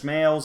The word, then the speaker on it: Smales: Not Smalls, not Snails, Smales. Say that 5 times fast. This being our aforementioned buddy Ted Knight. Judge Smales does everything he can